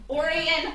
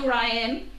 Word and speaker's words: Orion: orient style of axe orion not orion pronounced differently if you're at a mark twain cocktail party and you mentioned sam clemens brother orion then you're in the no for the pronunciation and if you say orion because you don't know they'll gently correct you so uh mark twain